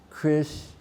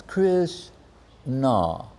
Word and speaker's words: Krishna: And one devotee says to the other, I do not know how much nectar there are in the two syllables, Krish-na. Like we hear, like, someone chanted 3 lakhs, someone chanted, you say, hold up.